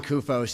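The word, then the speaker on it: Koufos: And don't worry about the name, it's Greek. That's the best pronunciation anyone's done in many years. Again, my name's Kufos, and Mr.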